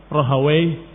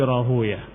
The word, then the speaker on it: Rahuyah: ibn Hamuyah atau Hamuwai, sebagian membacanya Hamuyah karena menghindari kalimat wai, tapi aslinya adalah Hamuwai, Rahawai, diakhiri dengan wai. Tapi karena dikatakan wallahu taala alam wai itu adalah nama syaitan atau sesuatu yang jelek, maka para ahli hadis membacanya dengan dibalik harakatnya. Bukan Rahawai tapi Rahuyah. Bukan Hamuwai tetapi Hamuyah. Ila akhirih.